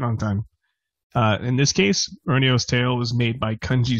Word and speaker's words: Roniu: I'm the founder of Mega Cat Studios, and we're here to talk about Roniu's Tale, a game we have live on Kickstarter for the NES.